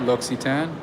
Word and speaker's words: L'Occitane: l'occitane oh is that how you say it l'occitane yes so make sure you know whenever i